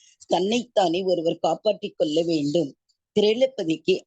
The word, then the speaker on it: திரௌபதி: திரௌபதி pronounce பண்ணுங்க மாதாஜி. திரௌபதி.